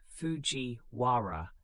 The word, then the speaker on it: Fujiwara: The Fujiwara pronounced Fujiwara clan perfected a strategy of marrying their daughters to emperors.